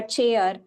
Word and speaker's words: chair: In chair we do not pronounce C and H in different way. We pronounce it as che and then air chair.